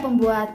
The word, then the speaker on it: COER: Juhoon dan COER COER (bacanya kor kan 💪🏻 bukan GaCoer hahahah) pembuatan boneka choco flanel